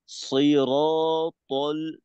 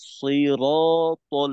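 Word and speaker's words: صراط: ইহদিনাস সিরাতাল মুস্তাকিম এখানে বেশ মোটা উচ্চারণ কয়েকটা সিরাতাল না সিরাতাল মোটা মোটা রাখতে হবে ইহদিনাস সিরাতাল মুস্তাকিম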